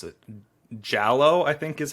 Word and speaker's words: giallo: But when you look at the history of slasher films, before Black Christmas, you have how do you pronounce it? Giallo, I think is how you pronounce it.